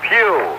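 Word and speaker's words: Pough: and the other man number 85 is Ernest Pew it's p o u g but pronounced as a PE in church this being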